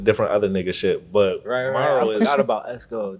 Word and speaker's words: MVRRO: So I'm like, Morrow, like tomorrow.